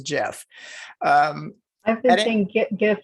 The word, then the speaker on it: GIF: above i hate saying jiff because it's dot gif but i i was told that that is the way it's pronounced as jeff um i'm thinking get